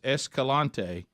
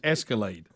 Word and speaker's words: Escalante: it so grand staircase Escalante and he's going to call it Bears ears and the grand staircase Escalade like a car so here we go